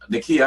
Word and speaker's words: Nekiya: Nekiya, how about you? So to pronounce my name's Nekiya, by the way.